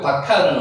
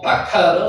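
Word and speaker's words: בָּקָר: 실제로 여기에 점이 찍혀있는 게 있기 때문에 비읍이 된 발음이 납니다.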